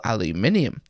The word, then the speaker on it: aluminium: plastic exterior for the standard issue Apple aluminium and yes that is how it's pronounced also it's going to